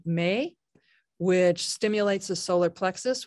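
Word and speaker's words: Meh: intone the vowel sound Me. It's spelled M-E-H, but it's pronounced like the month of May.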